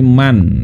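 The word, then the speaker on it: مَنْ: Apa artinya apa itu bukan Min tapi Man ya kalau Min bacanya bukan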